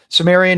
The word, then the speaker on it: Cimmerian: Um we pronounce it as a soft C in English. So that's why. So it so Cimmerian is right in English.